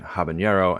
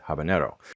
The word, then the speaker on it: habanero: The name describes something from Havana, which isn't pronounced in the source language with a ny, but the most common nativeization in English does have that sound.